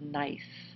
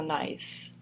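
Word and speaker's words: gneiss: of this compositional banding is a rock called nice pronounced nice spelled g NE I SS so um this is a nice and why do you have this layering in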